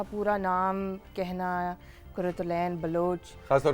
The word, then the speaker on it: Quratulain: तो उसने कहा कुरातुलैन कुरातुलैन। I love the way he said my name क्योंकि अरबिक प्रोनाउंसिएशन।